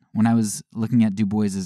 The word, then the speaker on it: Du Bois: name a lot and it says that du boys actually pronounced his own name du boys now whether that was